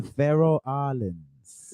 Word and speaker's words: Faroe Islands: The Faroe Islands.